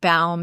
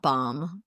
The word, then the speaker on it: Baum: The latest version was just take a bow. So it's like Baum, not bomb.